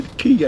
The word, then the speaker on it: Caye: I'm going to Caye. I'm going to Caye Caulker.